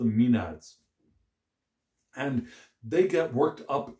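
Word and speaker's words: maenads: are called the minute the minute the minades or we call them being pronounced the mean ads and they get worked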